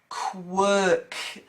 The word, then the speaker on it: quirk: Quirk. So it's like work, I suppose, but you're putting a k in front.